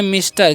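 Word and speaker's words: Mr: है जी एमआर तो इसे एमआर नहीं पढ़ना है क्या पढ़ना है इसे इसे हम लोग पढ़ते हैं मिस्टर क्या पढ़ते हैं जी मिस्टर पढ़ते हैं ठीक है ध्यान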